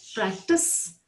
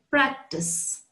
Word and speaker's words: practice: an s in it both are pronounced exactly the same way like i said earlier practice practice sir sound practice one